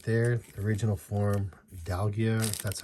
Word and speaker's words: Dialga: and there's a v right there original form dalgia that's how you say his name i'm not very good at like pronunciation never been so and i don't watch